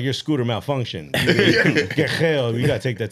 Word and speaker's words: Guerreros: Guerrero. You got to roll the R.